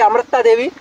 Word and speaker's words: Amrita Devi: That's why this is come to be very difficult to pronunciation. Mm. So say Amrita Devi.